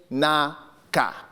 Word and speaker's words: Nsukka: My third name, and this is very traditional, and I'll pronounce it as it's spelled, is Nsukka. Sounds like Kunta Kinte, something really dramatic.